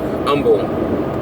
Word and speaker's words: Humble: suburb of Houston called humble it's actually kumble but the H is silent it's very close to